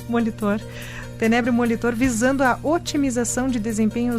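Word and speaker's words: Tenebrio molitor: Acertei agora a pronúncia. Molitor. Tenébrio molitor.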